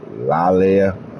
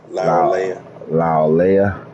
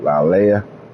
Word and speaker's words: Laulea: And Sony, how you want to say his name? Lalea. I don't know how you say his name. Laulea. Yep, Laulea.